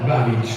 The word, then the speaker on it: Babic: tra Arianna Tonello e Diana Diana Babic, così ci ha detto che è la pronuncia corretta, ma poi entreremo anche, inseriremo il CD-ROM dell'inglese, giusto?